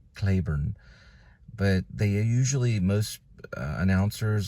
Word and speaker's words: Cliburn: um clay like clay or like rain like Clayburn but they usually most announcers like radio announcers or TV announcers they pronounce it kurn okay so we're going to go with van kurn he would probably be the only one that